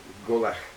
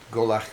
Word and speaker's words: Gobhlach: gaelic something i call that g-o-b-h the b-h is sort of silent asylum v and it's the name of the burn and the burn golach means fort it comes